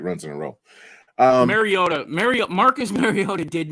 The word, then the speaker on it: Mariota: as it used to be new quarterback in Marietta omariato whatever you say his name um Mariota thank you very much sorry I'm trying to